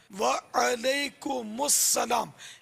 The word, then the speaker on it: وعلیکم السلام: بکرے کو بولتے ہیں، عین پر زبر ہے، یہ دیکھیں اس طرح بولنا ہے، وعلیکم السلام، میم سین پیش مس، وعلیکم السلام۔ آئیے بتاؤ کس کو آتا ہے؟